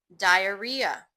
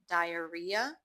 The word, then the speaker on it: diarrhea: Diarrhea. The difference, um, the spelling is different in British English versus US American English, but the pronunciation is the same. Diarrhea.